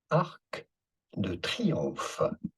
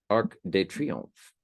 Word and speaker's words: Arc de Triomphe: Of this monument, in French, in France, we would call it Arc de Triomphe. Arc de Triomphe.